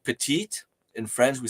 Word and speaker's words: petit: it when you said petite in France we say Petit so you don't really pronounce it e but it does add a little more sound to the last T like foreign we were